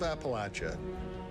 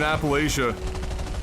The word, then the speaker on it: Appalachia: The blue moon has risen over the hills of Appalachia, bringing with it a ton of great new content for players. I went my whole life pronouncing it Appalachia, and now I feel stupid.